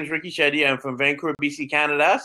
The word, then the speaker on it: Ricky Shetty: basilico and i'd love to welcome my guest Ricky Shetty is that rice that how you pronounce it yeah you got it perfectly thanks